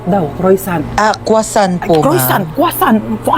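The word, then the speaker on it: croissant: Croisant daw. Croisant. Ah quasant po.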